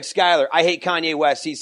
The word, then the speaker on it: Skyler: Skyler is Skyler. It's not AR. Who spells Skyler wrong? They always say Skylar, but it's Skyler.